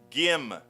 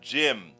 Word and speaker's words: Gym: Her name is Gym, not Jim.